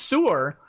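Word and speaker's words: saor: It's pronounced sewer with a roll on the R at the end.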